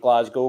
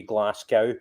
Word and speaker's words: Glasgow: Most people have heard of Glasgow, but Americans say Glasgow, as in a cow made of glass. That's wrong. It's Glasgow. But yeah, so about 30 miles from Glasgow, 50 kilometres.